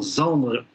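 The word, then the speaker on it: Zandry: Et c'est ce en quoi ce mouvement Z Z ayant un autre sens à Madagascar Z voulant signifier également Zandre. Zandre s'écrit Z A N Dr Y et ça définit au sein de la famille le cadet.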